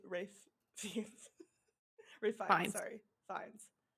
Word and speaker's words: Ralph Fiennes: Well, now everybody knows how to say Rafe Fiennes.